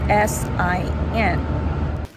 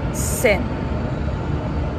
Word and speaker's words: sin: we're Sita how do you pronounce the word that's spelled as s-i-n I think I know it it's pronounced as